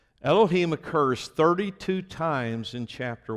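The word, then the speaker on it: אֱלֹהִים: genesis 1 is the hebrew word elohim it's pronounced elohim elohim occurs 32 times in chapter 1.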